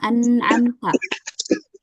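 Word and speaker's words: أنعمت: Yang betul kita baca dengan digabung semuanya tanpa ada jeda sedikit pun ya. Anamta.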